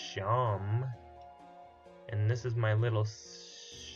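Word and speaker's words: Seam: not attacking anyone talk the name seemed pronounced Shawn and this is my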